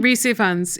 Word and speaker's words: Rhys Ifans: Rhys Ifans, he's a Welsh actor.